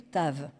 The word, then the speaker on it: Tav: La dernière lettre est le Tav. Ça s'écrit comme un T et ça se prononce ta.